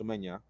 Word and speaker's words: Semenyo: I had Kudus, Mbumo, Semenyo, or I think his name in Ghanaian is actually pronounced Semenya, Saka, Bowen, Gyökeres, and Mateta.